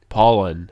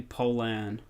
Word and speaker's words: Pollan: o ll a n pollen it's actually Poland I agree I have